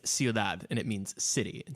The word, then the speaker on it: ciudad: wait a thing is it c-u-i-d-a-d yes it's ciudad and it means city in spanish okay yeah